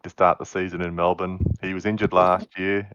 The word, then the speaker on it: Melbourne: Not at all how it's spelled. Melbourne. MELBEN, Melbourne. Yeah, it's never the born part.